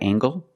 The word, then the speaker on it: angle: is this a right angle that's right this is a right angle use the nasal plus the hard G angle angle this is